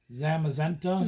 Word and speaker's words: Zamazenta: So if we end up getting this, how do you pronounce that? Zamazenta.